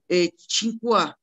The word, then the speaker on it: Tsinghua: Tsinghua diye telaffuz edilen, Tsinghua diye yazılan iki üniversite var.